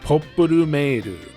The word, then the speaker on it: Popful: While the game has always been written popful mail in English, in Japanese it's popur, which normally you would expect to be popped in English. Guess they didn't want people to think it was somehow related to popples.